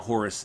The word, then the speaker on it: Horace: But no, it's like no, it's Horace, like a European name or something.